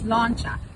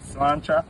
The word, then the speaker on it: sláinte: In Irish it's sláinte. Slancha.